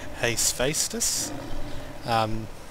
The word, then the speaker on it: Hephaestus: And interestingly enough, they renamed this room in the Anniversary remake to Hephaestus.